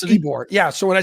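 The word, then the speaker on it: Ybor: city eore it's pronounced ebore yeah so when I said ebore I know it look it looks um nothing like it's spelled it's pronounced nothing like it's spelled almost like every eing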